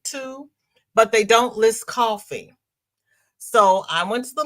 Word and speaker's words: Ko-fi: Then the light went off because it's spelled Ko-Fi. You're thinking coffee because we're saying coffee, but that's not how it's spelled.